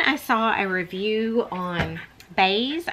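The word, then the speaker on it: Béis: saw a review on Bays I'm assuming is how it's pronounced it's b e i s and I ended up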